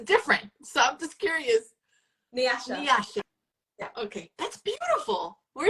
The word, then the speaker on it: Nyasha: because it's it's different so I'm just curious Nasha Nasha okay that's beautiful where is that from